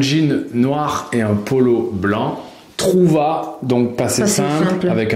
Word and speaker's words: blanc: Attention à blanc, on ne prononce pas le C, mais on l'écrit.